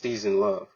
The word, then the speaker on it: SznLuv: with your name and it's pronounced season love correct yes season love and it's perfectly imperfectly spelled season love um was szn l u v and it is Warped